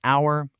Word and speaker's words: hour: And then there's a tricky silent H in words like hour, honest, and ghost.